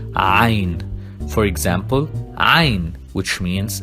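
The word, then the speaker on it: عين: Then we have Ain, and we pronounce it like A coming from the throat. Ain.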